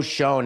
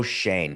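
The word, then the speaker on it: Schoen: Joe Shonne is not, and I forgot how to pronounce his last name, Coco. We did it before this show started. Joe Shane.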